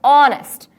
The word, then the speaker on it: honest: all is a wall sound we do not pronounce this word as hardness right it's honest therefore we have to use our indefinite article